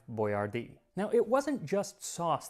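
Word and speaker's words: Boyardee: his name right so he started spelling it out phonetically boy r d and unfortunately they didn't specify where the accent was so Chef boardi quickly became chef Boyard now it wasn't just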